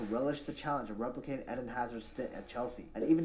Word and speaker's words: Hazard: However, for the remainder of say it right, it's Eden Hazard.